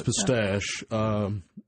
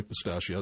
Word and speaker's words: pistache: You called it Chinese pistache, and I always heard them called Chinese pistachio. Is it actually pistache and not pistachio? It is pistache, is the actual name, but some people say pistachio.